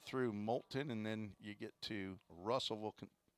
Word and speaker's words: Moulton: from Coastal South Community College that's how you pronounce Moulton I drive through there on my way down